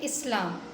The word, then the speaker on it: اسلام: گے۔ پہلا لفظ ہے اسلام۔ پہلا لفظ یعنی الف مکسور ہے، اس کے نیچے زیر ہے، سین ساکن ہے۔ تیسرا مفتوح یعنی اس پر زبر ہے اور میم ساکن۔ جیسے اب آپ اور